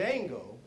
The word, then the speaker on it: Django: to him and says what's your name Jango do you know how to spell it DJ a n g o and the guy